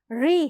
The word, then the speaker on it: ऋ: लेकिन वस्तुत यह उच्चारण अलग है। री नहीं है। ऋ है। मूर्धन्य वर्ण है। यह आपकी जीभ थोड़ा ज्यादा पीछे की तरफ जाती है तब उसका उच्चारण होता है।